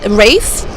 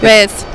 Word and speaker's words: Reyes: Let me help you with the Latin pronunciation. Reyes. Reyes. There you go. You got the roll of the tongue.